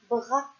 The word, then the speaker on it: bras: se prononce ze et des fois la lettre S est muette à la fin du mot comme le mot bras et là le S